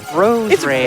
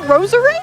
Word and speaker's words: Roserade: Rose Raid. Isn't it Roserade? That's what I always said. Okay. See, that's what I mean. hold on. But like, Like, there's a whole syllable there.